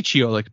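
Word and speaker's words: Ciolek: guitar and vocals and I already forgot how to say this guy's last name Steve choic choic c i o l e k it we decided we learned that it was a Polish name possik possibly probably an Americanized version of it uh on vocals and guitar I could see cholik being a pronunciation but sorry Steve if you're listening we got your name wrong and this was the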